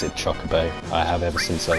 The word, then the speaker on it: chocobo: I'm sorry, look, I pronounce it chocobo.